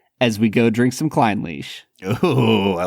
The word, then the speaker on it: Clynelish: so today we are checking out Klein leash 14 year now I am going off of some very credible sources in pronouncing it that way I thought this would be pronounced kellish but were your sources from